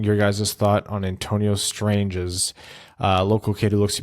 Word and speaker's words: Strange: second-round range currently thanks stranges is the right way to say it right strange strangest yeah it's more it's not like strangers it's more like a soft day yeah thoughts on him